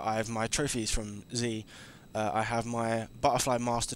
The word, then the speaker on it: Xi: called z now i know back then i pronounced x i and i was wrong um the game was called z this like roman numeral thing so i done